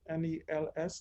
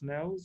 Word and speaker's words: Nels: Nels, is that how you pronounce it? N-E-L-S, Nels or Nels?